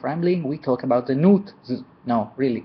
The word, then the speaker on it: Nuit: the game there's uh new it there's new it and a lot more but the fish pronunciation of this race is n just like suit but with an N so um which I